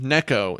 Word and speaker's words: Neko: It's pronounced Neko. It means cat in Japanese.